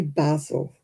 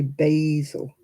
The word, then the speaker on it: basil: Well, we say basil. Americans say basil.